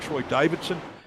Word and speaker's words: Troy Davidson: I think it's Todd Maxfield and Troy Davidson. And I'm getting it right this week, Troy. I'm actually pronouncing the D. It's not silent.